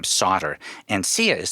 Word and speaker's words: Sautter: to weave that into her story. Cool. Anyway. So we can hear some of that first part of my interview with Sia Sauter, Sautter. That's how you spell her last name, Sautter.